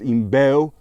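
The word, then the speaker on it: IMBEL: a Brazilian military knife by a brand called imel all right it's pronounced imel check out the uh mark on it a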